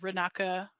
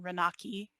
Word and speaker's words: raka: Arabic might notice that I am using some particularly Arabic pronunciations uh you know raka rather than raki uh that is born